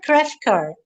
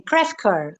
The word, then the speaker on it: Crefcoeur: like also your surname krefker i i it sounds french yeah it is french yes it is french